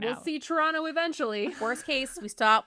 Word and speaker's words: Toronto: I remember moving to Toronto and sorry, Toronto. I was even going to say like one thing with a hard second T.